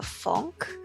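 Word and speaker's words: phonk: i've been getting into a funk which is spelled like p-h-o-n-k it's like a it's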